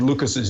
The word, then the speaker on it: Lucas: language uh know that names ending in s this s is silent um so they're actually